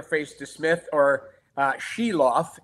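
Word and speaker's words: Silovs: the Smith or uh shiloff is his name that's the pronunciation I've been told so um you're going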